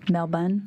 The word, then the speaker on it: Melbourne: Melbourne. Melbourne. Is that the correct way to say it?